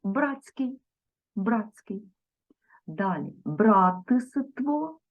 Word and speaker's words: братство: вимовимо Братський Братський далі Братство запишемо але вимовимо братство далі тут варто запам'ятати винятки